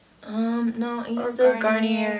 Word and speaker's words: Garnier: No, I use Or the Garnier. Garnier. Why is it spelled like Garnier, but you say Garnier? Like, that seriously bothers me.